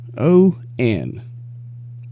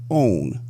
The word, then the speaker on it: on: In the South, it is pronounced own, like O-W-N, which spells own. Back to our sentence. I now want you to read this sentence. Did you say own twice? The correct pronunciation of the word is on.